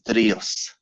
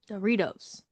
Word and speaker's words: Drios: No, my name is Drios. Doritos. There is no D in Drios. What am I saying? You are saying Doritos.